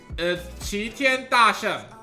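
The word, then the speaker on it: 齊天大聖: Alright, I'm gonna tell you his name in Chinese, okay? Qi Tian Da Sheng in Chinese.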